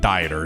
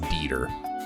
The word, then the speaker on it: Dieter: His name is Dieter Croy. You guys told me that guy's name is not Dieter. His name it's pronounced Dieter.